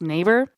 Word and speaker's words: Naber: So your last name, like your legal last name is spelled Naber, but it's pronounced neighbor.